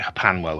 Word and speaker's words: HPANWO: I pronounce it Hapanwo.